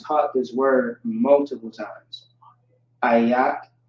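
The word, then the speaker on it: איך: Ayak is how you pronounce that. Ayak.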